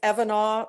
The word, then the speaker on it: Evanah: pronounce it that's okay it's evanah like kavanaugh okay evan oh um